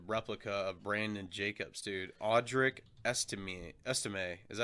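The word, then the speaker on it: Estimé: Audric Estime. Is that how you say his name? Yeah, Estime.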